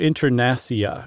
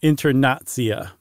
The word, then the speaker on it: Internacia: He called the new language Lingvo Internacia, or no, Internazia, because that C's, it's, remember?